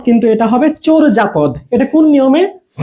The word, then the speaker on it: চর্যাপদ: আমি উচ্চারণ করি চর্যাপদ, কিন্তু এটা হবে চোরজাপদ।